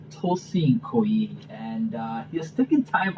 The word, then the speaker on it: Koyi: Okay, Pronunciation is Koyi. Koyi.